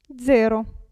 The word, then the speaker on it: zero: e tazza però attenzione la Z all'inizio della parola si pronuncia z z zaino e qui Zero calza danza pizza tazza